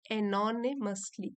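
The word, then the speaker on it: anonymously: दिया लेंचो के लिए, अनोनिमसली, एनोनिमसली, यहाँ इसकी प्रोनाउंसिएशन लिखी है एनोनिमसली।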